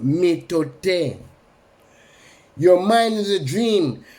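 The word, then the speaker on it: mitote: Your whole mind is a fog, which the Toltecs call method, pronounced metote.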